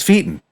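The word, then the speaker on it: Feiten: and he's like yeah it is pronounced fighten but everyone says Feen and I was tired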